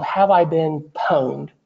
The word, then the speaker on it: pwned: called have I been pwned it looks like pawn but I think it's pronounced pwned and that means hacked